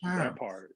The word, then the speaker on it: Thyme: how to say it i said your name is pronounced time and you were like yes